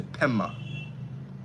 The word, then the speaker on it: Pema: And instead of Padma, you say Pema, okay?